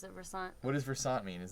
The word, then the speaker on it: Versant: solo work it's pronounced Versant we pronounce it Versant what is Versant mean is that a word I'm unfamiliar with um if you're sounds like a croissant well um wish I